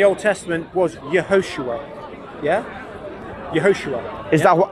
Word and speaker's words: Yehoshua: Yehoshua. Is that how you spell it? Yeah, yeah. Is it in Hebrew or Aramaic? In Hebrew, Yehoshua.